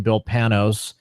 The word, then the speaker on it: Panos: His name is Bill Panos, which I figured out that is the proper name, how to pronounce his name, Bill Panos.